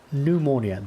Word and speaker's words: pneumonia: I mean, pneumonia. The P is silent.